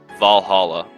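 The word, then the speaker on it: VA-11 HALL-A: want to describe it, Valhalla, and it's not actually spelled like that, but you get the gist.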